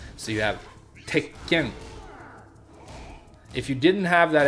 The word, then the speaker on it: Tekken: But when you say the word Tekken, that's the equivalent of a double consonant in English.